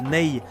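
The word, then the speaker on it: ney: C'est la fameuse flû en roseau qu'on appelle le NE. Donc à l'occidental, ça s'écrit N A Y.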